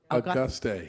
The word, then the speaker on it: Auguste: Councilwoman at Large, Patricia Perkins, pronounce the last part. Auguste.